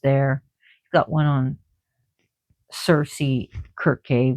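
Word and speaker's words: Circe: He's got one on Cersei Kirke, which is actually pronounced Kirke.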